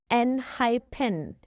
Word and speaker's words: ENHYPEN: So it's pronounced enhyphen, enhyphen.